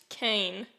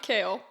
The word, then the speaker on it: Kane: I'm in love by Clinton Kane not kale no Kell salad up in here um just Kane kill and abble I